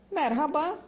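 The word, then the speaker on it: merhaba: comum a em turco e aí tem muita gente que pronuncia assim como o r rabah é ou pronunciou r como se tivesse raspando um pouco a garganta mexe abba vamos lá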